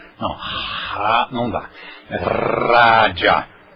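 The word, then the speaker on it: राज: Pronuncia-se então com dentolingual, língua dental, a língua atrás dos dentes, e aí você pronuncia raja, raja. Cuidado, pessoal do Rio de Janeiro, que tem pronúncia do R francês. Raja.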